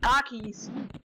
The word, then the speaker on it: Takis: Takis. T-A-K-I-S. Takis. Das sind ja nicht Takis.